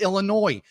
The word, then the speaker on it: Illinois: It's Illinois.